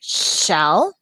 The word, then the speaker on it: she'll: though because when you're reading it looks like shell but it's per since it has that apostrophe it's pronounced she she'll so she will she'll and there it is